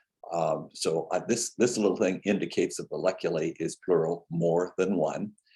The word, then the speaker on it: valleculae: If you add an E to it, it is pronounced valleculae.